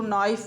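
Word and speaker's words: knife: होता है चाकू जैसे के एन आईई एफ या आपने ये देखा इसको नाइफ बोलते के के पहले यानी ए के पहले अगर के आता है यानी कह रहा है इसमें के साइलेंट हो जाएगा या एन से अगर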